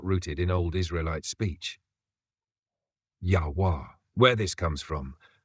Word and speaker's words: Yahuah: Yahuah. Where this comes from. This version honors ancient Hebrew war being W, not V.